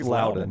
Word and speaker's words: Loudon: with blackjack at symphony i don't know how to pronounce it loudoun loudon tennessee it's loudoun yeah we are in